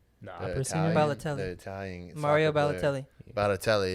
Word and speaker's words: Balotelli: Like if you're darker, like wherever you go, and they had like wasn't how you say it, Bartoli. Balotelli.